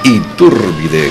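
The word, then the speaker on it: Itúrbide: felicitar a Pedro Iturbide Iturbide con acento en la u y me ha dicho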